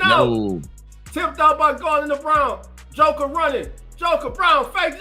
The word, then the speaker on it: Braun: It's Brown. It's Brown. It's Brown. Brown is playing a hell of a game. It's spel it spelled like Braraw, but it's pronounced Brown.